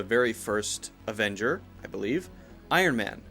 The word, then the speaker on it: Iron Man: n gets in there if you say Ironman Ironman that's unclear you have to make sure the iron iron and is there before you changed to the M iron it's coming out of my nose when you say that in sound all the air should be coming out of here and you're lifting the tip of your tongue up to block the air from coming out of your mouth Iron Man Iron Man